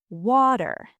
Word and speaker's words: water: When a T is between two vowel sounds, Americans don't say T. We say a very quick D. Wait, a D like dog. A very soft D. Think of the word water. British water. American water.